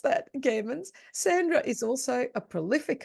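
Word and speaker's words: Gehrmans: in Finland with Sulasol and in Sweden with Gammons. Gammons. I mispronounced that. Gammons.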